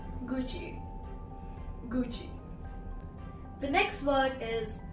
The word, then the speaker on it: Gucci: The next one is my favorite brand, and it's from Italy, which is Gucci. Gucci. Now, the wrong pronunciations are kind of funny. Many people say Gucci, Gucci. It's not Gucci, it's Gucci.